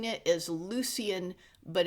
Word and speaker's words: Lucian: Lucian is uh an angel sent down by God. Oh, I was uh I was mispronouncing it as Lucian, but it's Lucian.